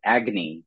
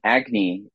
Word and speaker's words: Agni: for a magazine out of Boston University called Agy it's spelled Agni um Agy and so I became a a a poetry